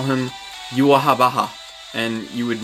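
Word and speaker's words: Yhwach: There's Yuahabaha, which is how it's written. There's Yua, and there's Yuak, which is more closer to the accurate German pronunciation, which is what it's based on.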